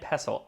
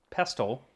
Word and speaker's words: pestle: M: Uh no, this is mortar and pestle. I said mortar and pesTle. So I had only ever seen the word pestle.